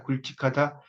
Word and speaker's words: 굵직하다: 근데 그렇지 않은 경우에 이제 어, 리을 기억으로 이렇게 굵직하다 이럴 때는 기억을 이거 우리도 이거 굵직하다란 말 많이 쓰는데 굵직하다 이렇게 이제 발음하는 것이 더 맞다는 겁니다.